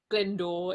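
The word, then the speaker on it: Glyndwr: glindor galindor glindor michael it's spelt it won't help you it's spelled g-l-y-n-d-w-r glyndor is oh yeah yeah right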